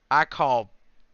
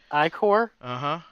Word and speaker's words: ichor: So on the Wiktionary, the free dictionary, for the word ichor, it's got pronunciations. Ichor, Ica, and Ica. Are the three different pronunciations.